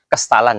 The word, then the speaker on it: Kestalan: Kestalan ya. Kastalan. Ya, jadi Kestalan itu adalah tempat latihan berkuda yang kuno begitu ya, dulunya begitu. Oke. Jadi berasal dari kata kaistalan. Kaistalan, kemudian pengucapannya menjadi kestalan.